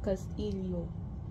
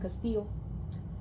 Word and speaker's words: Castillo: from Luzon and North, would pronounce that name Castillo, not the Spanish pronunciation Castillo.